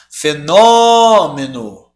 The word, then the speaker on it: fenômeno: se nós menu Tá qual é a sílaba tônica aqui gente vamos chamar fenômeno tá aqui né fenômeno Então não é a última não é a penúltima é a antepenúltima ou seja ela é